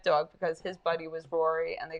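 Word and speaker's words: Ruairi: we call him patty or rory but it's spelt r-u-a-r-i yeah oh my gosh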